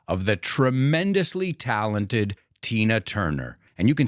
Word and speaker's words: Turner: not t it's turn I want you to imagine the U as an e turn it's another great